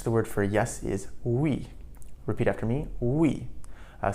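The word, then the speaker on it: oui: Um, so in French, the word for yes is we.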